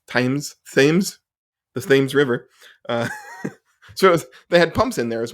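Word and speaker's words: Thames: actually technically below the the how do you pronounce that tames tames themes the themes River uh so they had pumps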